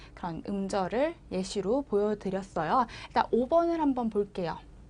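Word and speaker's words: แยะ: 에 같은 경우에 짝대기가 하나 더 있는 거는 입을 크게 좀 더 벌려준다.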